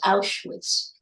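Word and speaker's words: Auschwitz: think this that's how it's spelled but it's pronounced aitz thank you and because he was a a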